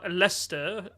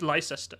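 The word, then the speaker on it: Leicester: and I should know I'm from leester better pronounced as Lester look at his face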